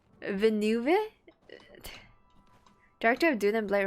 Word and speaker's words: Villeneuve: I love anything Dennis Villeneuve, bro. It's just like Nouvellette, bro. How do you say this name? Villeneuve, director of Dune and Blade Runner.